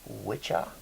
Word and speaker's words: Wicca: nothing to do with Wicca actually comes from an Anglo-Saxon word. W-I-C-C-A, which is pronounced witcha in Saxon, and witcha. But we pronounce it with hard C's when we're talking about the faith.